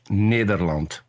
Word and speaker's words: Nederland: Peter, what is the correct pronunciation of your country name? The Netherlands if you want to do it in Dutch, Nederland.